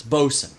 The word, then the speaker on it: boatswain: yeah yeah yeah it's boson anyway oh somebody might correct me on this but but the way i heard it pronounced was boson i know who will